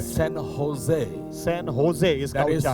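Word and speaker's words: San Jose: इन the place of ह they put जे ह की जगह जे लिख दिया। I will give एन एक्स। उदाहरण देता हूं। Where is the duster. Now you pronounce this इसको कैसे उच्चार करोगे आप व्हाई होजे सन होजे क्यों वो तो जे है यस दिस इज वन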